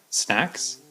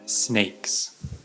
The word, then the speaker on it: snacks: or whatever Etc um some of my English students had trouble pronouncing snacks sometimes they said snakes because if you look at the two words snacks snakes snack is a food but snake is an animal but I had some